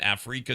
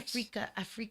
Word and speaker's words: Afreeca: Africa? Africa TV is kind of like Twitch in Asia. Oh, what? But it says Wow. it sounds like Africa. It does sound like Africa, but it's spelled AFREECA In TV.